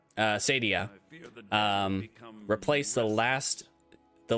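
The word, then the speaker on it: Saadia: Sadia. Yeah, that that is true. That that is the correct pronunciation.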